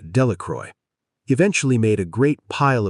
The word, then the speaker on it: Delacroix: Bobby and Harry Jones and Dickie Delacroix, the villagers pronounced this name Delacroy, eventually made a great